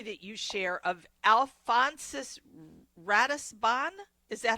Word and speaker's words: Ratisbonne: by the story that you share of Alonsus Ratisban. Is that how you say it? Yeah. Risbone.